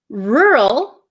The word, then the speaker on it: rural: no they don't so the first one rur my mouth barely moves R it gets tight for the r r rural the second word is